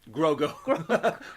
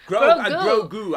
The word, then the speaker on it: Grogu: Just like when you buy all the Baby Grogo things. Grogo? Grogu. Grogu. I even said it wrong.